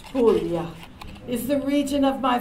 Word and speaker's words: Puglia: Puglia, pronounced Puglia, is the region of my father's family.